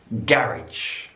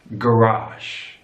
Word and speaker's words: garage: In British English, garage. Garage. Stress on the first syllable. Garage. American English, garage.